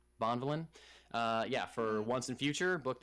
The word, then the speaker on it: Bonvillain: I don't know how to say that last name. It sounds like Bond Villain. I'm pretty sure you said it right. That sounded like a proper last name. Bonvillain.